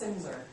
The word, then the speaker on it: Silmser: It's Silmser on the last name, if you care. It's spelled kind of strangely. And yeah, that L is silent.